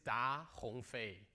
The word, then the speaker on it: Da Hongfei: again yeah because probably many of you cannot pronounce my name correctly yeah my name is da Hong Fei so da is a family name in China